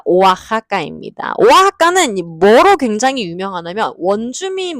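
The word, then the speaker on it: Oaxaca: 이거 오아하거든요. 오아하까. 우리 멕시코 관련된 건 전부 다 액기스를 호따로 발음하기로 했잖아요. 왁사카 아닙니다. 오아하입니다.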